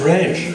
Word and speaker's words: Reg: What is Reg? That's Greg with a soft G. Soft G. So straight into the R, straight through Reg.